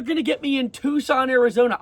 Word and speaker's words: Tucson: No, they're going to get me in Tucson, Arizona. I pronounced your Tuxen yesterday." My mom had to correct me.